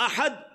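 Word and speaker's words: أحد: تلفظ, قل هو اللہ احد, کہو کہ اللہ ایک ہے, احد ایک ہے. لیکن اگر احد کی جگہ کوئی پڑھتا ہے احد, ہا کی جگہ ہا, بہت تھوڑا سا ہی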